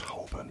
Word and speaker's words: Holborn: Spelled Holborn, but it's said Holborn, pronounced Holborn.